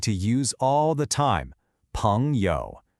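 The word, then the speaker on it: 朋友: Next up, we have a word you are going to use all the time, 朋友. It's pronounced 朋友, and it means friend.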